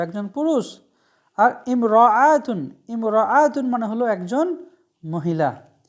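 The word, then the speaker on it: امرأة: তো বিষয় হলো ইমরাআতুন শব্দটা যদি সিঙ্গেল থাকে তখন ইমরাআতুন পড়ব, কিন্তু এই শব্দের আগে যদি অন্য কোনো শব্দ চলে আসে তাহলে এই আলিফের উচ্চারণটা হবে না।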